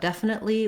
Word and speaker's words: definite: Both definite and definitely have first syllable stress.